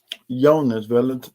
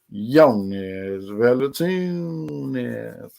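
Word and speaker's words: Jonas Valančiūnas: field played 27 minutes youngest village wait hold on that's not how i say his name it's young as well latinos all right shout out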